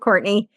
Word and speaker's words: Courtenay: little bit differently it's spelled like courtin it's pronounced Courtney but it's c r